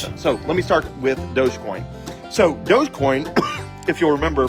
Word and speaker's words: Dogecoin: So, it's spelled like doggycoin, but it's pronounced Dogecoin.